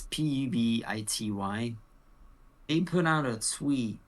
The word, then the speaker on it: Pubity: Publicity. I can't pronounce it. It's Pubity.